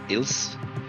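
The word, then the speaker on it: Ilse: Ils illis. Yeah. Ils or il. Yeah, it's likely Ils. Ils.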